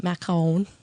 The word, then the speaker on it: macaron: the macaroons are actually you can pronounce it macaron is the French pronunciation but they're actually the